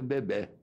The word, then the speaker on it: bebé: Ora, nós temos em português do Brasil, temos também no Nordeste a pronúncia bebé, não é?